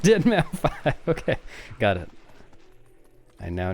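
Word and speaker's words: deadmau5: It's pronounced Deadmau 5.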